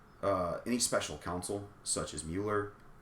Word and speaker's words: Mueller: even, I believe, any special counsel, such as Mueller.